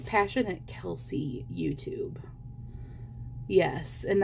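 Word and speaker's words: Passionknit: Passionate, I think it's Passionate Kelsey YouTube. Yes, and that's spelled like passion, but instead of just having an N at the end, it's a K, N-I-T, for passionate.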